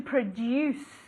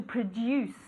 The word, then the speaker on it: produce: To produce. Como si fuera D-I-U. To produce.